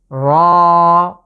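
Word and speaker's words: راء: এর মাখরাজ হচ্ছে জিভের আগাটা, জিভের আগার যে পিঠ আছে সেটাকে আমরা ঠিক তার উপরের তালুর সাথে লাগিয়ে উচ্চারণ করতে হবে। র। র, এটাকে 1 আলিফ টেনে পড়ব। আশা করি এই 5টি লেটারের উচ্চারণ আপনারা বুঝতে পেরেছেন।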